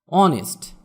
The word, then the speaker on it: honest: অনেস্ট, HONEST, এখানেও এইচ এর উচ্চারণ হবে না।